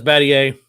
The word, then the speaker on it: Battier: I would have pronounced that as Battier. That's Battier. Yeah, that was 07.